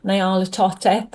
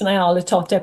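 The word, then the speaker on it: Nyarlathotep: And, um, I borrowed the character of Nala Toteep. I'm never certain how to pronounce that, but I think it's NaOTep. I hear it pronounced a few different ways for this particularly story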